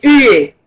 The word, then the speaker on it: huées: Ici, le H, il est prononcé. Des huées. Huées. Œillets. On doit être entre deux voyelles, on prononce Z. Oui, oui, je suis d'accord avec toi. Mais ici, vous avez un H. Voyez? Et ce H, on dit OU, donc le H, il est prononcé, hein?